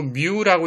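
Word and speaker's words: μ: 요 뮤라고 읽어요.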